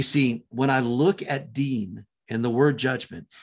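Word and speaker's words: דין: nun final uh so dean as in the name dean if you've if you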